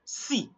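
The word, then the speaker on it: six: In French, you are not going to say 6, you only say si.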